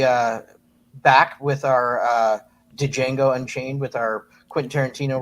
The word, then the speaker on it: Django: back with our uh dejango Unchained with our Quentin Tarantino retrospective oh yeah that would be great first things first the D is silent and also on Monday